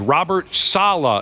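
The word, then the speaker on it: Robert Saleh: he's Robert S piss did I say that correctly Robert Salah Robert Salah yeah uh yesterday Karen Rogers fired his head coach he pretty much did yes a fell named Robert Salah is how you say it yep Karen uh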